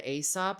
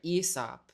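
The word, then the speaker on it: Aesop: New York's hottest club is the Asop store or sorry, ESOP. I just learned how to pronounce it correctly recently.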